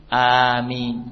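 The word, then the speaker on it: آمين: telah lalu ya nah perhatikan tentang bacaan Amin huruf hamzah A itu dibaca dengan mad TII yaitu panjangnya dua harakat a nah huruf mim dibaca tanpa tasdid Jadi bukan am tapi Amin jadi tidak ditasdid ya dan EE dibaca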